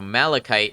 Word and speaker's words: malachite: see why you would stress the long a up front so malachite not our world's malachite